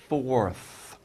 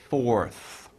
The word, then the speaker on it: fourth: fourth by the way that might be hard to pronounce fourth and then r right and th fourth fourth okay so what he's